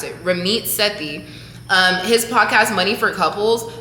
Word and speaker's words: Ramit Sethi: I mentioned him last week, Ramit Sethi, that's how you pronounce it, Ramit Sethi.